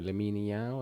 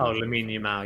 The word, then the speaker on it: Lamine Yamal: No, Lamine Yao. How do you say his Oh, name? Lamine Yamal, yeah, Yeah, yeah.